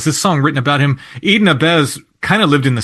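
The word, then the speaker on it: Eden Ahbez: yeah yeah so there's a song written by Eden abz and I think that's the way his that's pronounced right it is that was initially made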